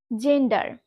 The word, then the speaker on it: gender: For example, জেন্ডার, জেন্ডার। দেখো আমি এখানে লিখেছি GENDER। এখানে তোমরা একটু লক্ষ্য করলেই দেখবে জি এর পরে কিন্তু কি আছে? ই আছে। তো আমি কিন্তু রুলস এর মধ্যেই বলেছি জি এর পরে যখন ই থাকবে বা ই লেটারটা বসবে, তখন আমরা জি কে বর্গাৎ জ বা জ হিসাবে উচ্চারণ করব। তাহলে উচ্চারণটা কেমন হচ্ছে? জেন্ডার, জেন্ডার।